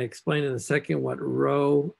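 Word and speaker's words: rho: It's a lowercase Greek letter called row. It's in English, you would write R-H-O, and you pronounce that row.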